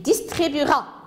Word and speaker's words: distribuera: on ne l'entend pas il distribuera le 2 ici mais on ne le prononce pas nous vérifierons nous vérifierons